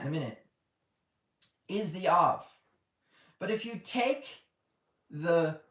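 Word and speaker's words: אב: So the strength of the tent is pronounced av.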